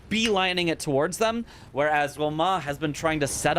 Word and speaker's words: Romain: Anyway, Roma is how you say R-O-M-A-I-N. It's not Romaine, it's Roma. I have been told.